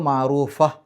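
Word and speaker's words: معروفة: എന്നിട്ട് അതിന് സുക്കൂന് കൊടുക്കുക അപ്പോ മഹറൂഫ എന്നാണ് അല്ലാതെ മഹറൂഫത്ത് എന്നല്ല മഹറൂഫ എന്നുള്ള രൂപത്തിൽ ഹ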